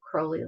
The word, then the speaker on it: Crowley: Crowley like Holy. It was Crowley to begin with, but he made it Crowley like Holy.